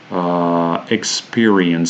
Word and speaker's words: experience: a schwa sound experience says here the stress falls in the second syllable so experiences the e sound is stressed and the first syllable also the letter e is unstressed and it's a schwa sound so we do this